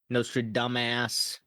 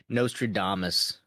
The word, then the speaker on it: Nostradamus: Nostra dumbass. Nostradamus.